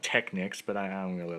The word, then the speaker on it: Technics: the 80s SLP 150 by techniques uh if you prefer that pronunciation uh they can also be called Technics but I I don't